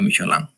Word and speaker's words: Michelin: en el mundo eh Bueno michelino pero se pronuncia michoaland Así que eso Por ejemplo les pagamos que